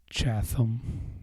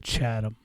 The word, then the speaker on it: Chatham: a town called chasm it's not chasm maybe it is that's how it's spelt nobody calls it that we call it Chatham I was going to